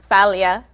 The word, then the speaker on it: Falia: it's actually greek the first name okay falia uh tell me what i'm looking at right